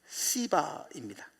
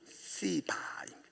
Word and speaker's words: 시바: 그 사람 이름이 시바입니다. 발음을 잘 하셔야 돼요. 시바입니다.